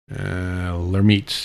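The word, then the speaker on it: Lhermitte: And as it turns out, that's something called Lemaitre sign. Let me make sure I'm pronouncing this right. Lermite, yeah, it's pronounced Lermite sign, and generally, it's from when you tip your head down.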